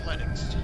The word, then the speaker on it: Linux: name is Lenfold and I pronounce Linux Linux." And I'm like, "Okay." So, yeah, I just pronounce it good old Lennox. Yeah. And I go with I go with Linux.